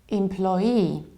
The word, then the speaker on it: employee: The thing is that the most popular, both British and American version is employee. Employee. So what happens? You have but then you stress plo. Employee. Employee. In the American accent, we also very often say employee. Employee. And a little bit less popular version of pronunciation is employee. Employee. So what happens? I have two stresses and that's why I don't say but I say em.